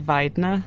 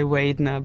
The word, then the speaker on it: Waidner: pronouncing my second name but how did you pronounce yours it's actually said Vier Vier like English people would say wner but it's not wait at all check yeah